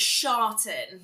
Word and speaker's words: Charlton: Did I pronounce it? I had to ask that earlier as well. So it's Sharton.